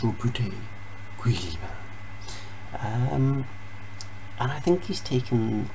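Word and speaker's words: Roboute Guilliman: was commissioned by Rabuti Gilliman, I normally want Rabut Gilliman, but you know, I'm Scottish, so I pronounce things in whatever fucking way I feel like it at any given time. But apparently it's Rabuti Gilliman.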